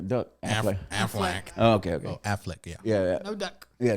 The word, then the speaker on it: Affleck: him at the end she came back to afflac uh is that how you say his name I'm think about I'm thinking about the duck a AF okay okay Affleck yeah yeah no duck yeah no duck okay